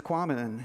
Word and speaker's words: Quammen: Sometimes I'm the one with the unpronounceable name. But it's Quammen, and he got that right.